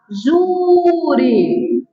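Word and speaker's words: júri: o tribunal do juri Juri tem acent Bora lá juri silov tônica penúltima tá paroxítona eu assento a paroxítona que termina em I tá aqui o assento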